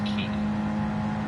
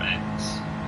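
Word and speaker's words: χ: Kingdom Hearts Key, or X, or Chi, or Kai. There's a bunch of pronunciations out there.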